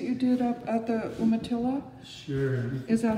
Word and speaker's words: Umatilla: the monoprints that you did up at the umatilla sure is that how you pronounce the reservation land umatillas yeah that's right the yamato reservation in eastern